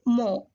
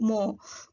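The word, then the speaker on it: 뭐: So what is Korean is mo. Actually what in Korean is muat. What in Korean is muat. For simplification and simple use, we are pronouncing what in Korean is mo. M-W-O, mo.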